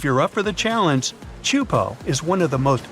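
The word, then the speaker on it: Teahupoʻo: It's pronounced Chupo, and it means broken skulls in Tahitian.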